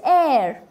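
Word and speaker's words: heir: How is this? Higher? It's not higher. It's air. An air.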